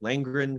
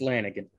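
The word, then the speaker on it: Lanegan: up I don't want I don't know how to pronounce his name that's what I said it's just it's just Lanigan hey I think we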